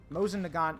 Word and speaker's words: Mosin Nagant: foreign yep that's a Mosin uh 19130 sorry Mosin Nagant 9130 that's how you say it all right